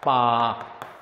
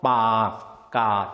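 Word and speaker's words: ปากกา: 명사들도 알아야죠 어떤게 있냐면요 이거 발음할 때 이렇게 길게 발음해야 빠까 왜냐요 둘 다 이게 뭐냐면 둘 다 장 모음입니다 장모음 짧은 모음이 아니라 길게 발음하는 장 모이니까 빠까 뜻은 볼펜이 되고요 얘는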